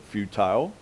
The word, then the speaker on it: futile: in jesus for every futile or if you pronounce it futile you can pronounce it either way every futile seemingly